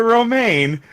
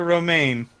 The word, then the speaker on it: Romijn: Rebecca Romijn okay oh oh I'm sorry Rebecca romaine I've never oh my god I feel so dumb I've never seen her name spelled I'm looking at the pronunciation thing yeah Rebecca romaine well let's put it this way um Jake